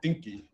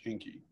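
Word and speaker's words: Encke: it's the same object it's called the um the comet is called inky uh e-n-c-k-e it might be pronounced a slightly different way it's like halley's you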